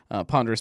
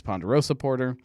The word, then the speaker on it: Ponderous: fig leaf tap room ponderous porta porter often gets mispronounced as ponderosa porter um the basmati cremail